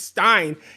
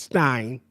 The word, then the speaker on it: Stein: No, no, it's Stein. He he he's he's not Jewish. It's not Steen. It's Stein.